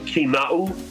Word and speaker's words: Kinau: yes the it's actually kinau so if phonetically we pronounce it it's like a key like do a door to unlock the door and then nah like nah nah like nah and